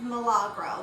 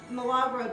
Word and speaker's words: Milagro: me on to this tequila I think it's pronounced Milagro this is a really smooth tequila we all